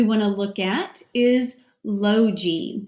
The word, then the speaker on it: logy: look at is Logie this is a two syllable word it means study of so ello is open lo and then the G Y they eat the Y is going to say e like we normally know at the end of the two syllable word and the G becomes soft because it's followed by a y the G will say logy means study of and